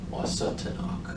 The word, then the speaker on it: Wasatanok: Washtenaw County, well, the word Washtenaw is a mispronunciation of Wasatanok.